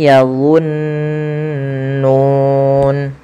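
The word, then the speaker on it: يَظُنُّونَ: Wain hum illa yadunnun. Padafalullah. Hati-hati teman-teman. Jangan kita ganti dengan huruf zai.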